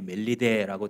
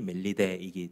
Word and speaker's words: 멜리데: 옛날 성경에 멜리데라고 되어 있는 이유는이 헬라식 발음이 멜리데이기 때문입니다.이 영어식 발음이 이제 몰타기 때문에 오늘날 우리들에게 유명한 섬이죠.